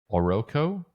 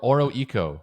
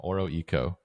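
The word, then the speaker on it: Oroeco: apps like Jewelbug and Oroco. Is that how you say it? or Oro eco. Okay, I think I see it now. Oro eco.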